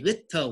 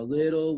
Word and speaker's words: little: The mistake I hear is when people say little water in the bottle. It is not pronounced like that. I know that there are T's in the word, but what you must remember is that spelling does not always mean the same pronunciation, right? I will explain the rules in a second. So very good, a little water in the bottle. So remember, silent T.